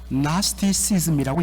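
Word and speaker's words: Gnosticism: 영어는 나스티시즘이라고 이야기합니다. 여러분들 왜 앞에 주의가 있는데 주의는 발음하지 않고 나스티시즘이라고 이야기할까? 이게 영어의 특징이죠. 앞에 G가 묵음인데 원래 헬라어, 제가 헬라어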